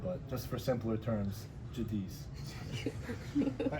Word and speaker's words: Giudice: So I say Jadis is the correct way to say it. But when people ask the Italian way, it's judich. But just for simpler terms, Jadis.